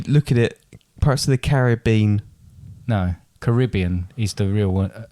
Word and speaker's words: Caribbean: at it perhaps the caribbean no caribbean is the real uh annoying thing in it because it's caribbean but some other but it looks like carrot bean caribbean yeah but it's not is it why are